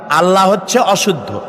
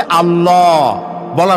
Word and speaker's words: আল্লাহ: কিন্তু আল্লাহ হচ্ছে অশুদ্ধ। শুদ্ধ হচ্ছে আল্লাহ। বলার সময় মুখটা গোল হয়ে যাবে। বলেন তো সবাই।